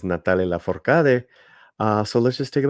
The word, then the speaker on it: Natalia Lafourcade: The correct pronunciation is Natalia Lafourcade.